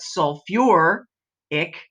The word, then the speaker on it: sulfuric: would become sulfic but with sulfur and phosphorus they decided that it must sound better if we actually use two syllables so it's sulfate but sulfur ick phosphate but phosphor ic all the others are